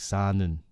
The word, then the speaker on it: 사는: with the rir, and if they put a nun or any kind of niun kind of particle in front of it, the rir is gone. It's taken out. It's just hard to pronounce. 울는, 살는. It just sounds like 사는.